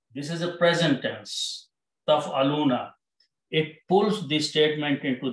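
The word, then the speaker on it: تفعلون: You all do something, but by adding a noon, it is pronounced as taf'aluna.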